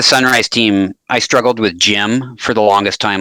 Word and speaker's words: GM: you think it is GM yeah I was always a GM I was a GM until I started working with sunrise and I was like I gotta say Jim oh so they always